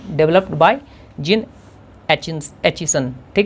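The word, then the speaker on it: Aitchison: तो developed by जिन एचिसन, ठीक है, टी साइलेंट है इसमें, जिन एचिसन पढ़ेंगे, जिन एचिसन, ठीक है।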